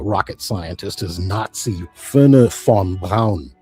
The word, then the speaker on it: Braun: Uh, Braun. Braun. Von Braonn. To the American eye, this looks like Braun, but in German, the name is pronounced Brown.